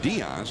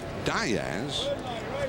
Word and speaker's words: Diaz: Diz the name would more correctly be said Diaz but in his family they pronounce it Diaz well he said his great-grandfather did it John